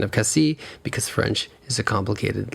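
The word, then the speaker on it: Cassis: after called Cassi and Cassi is spelled with an S at the end but you do not pronounce the S at the end of Cassi because French is a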